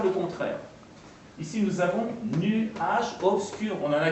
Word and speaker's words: nuage: Au lieu de prononcer nuage en 2 syllabes, on va le prononcer en 1 syllabe.